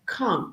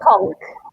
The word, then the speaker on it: conch: The pronunciation is like conch. Conch, yeah. It's very interesting that the pronunciation of CH would be K.